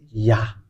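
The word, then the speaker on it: יה: You should not change anything anymore because the ancient Hebrew have saying that it's Yah. That's how we read it, and that's why we read the Psalm 150 verse 1, and it is Hallelujah. Let's get into that. This is the Hallelujah. So the way we read this is Yah.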